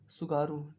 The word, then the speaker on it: Tsugaru: यहाँ पर एक स्टेट है, इसका नाम क्या है, सुगारू, TSUGARU, सुगारू स्टेट। स्टेट का नाम क्या है, सुगारू स्टेट। टी साइलेंट रहता है इसमें।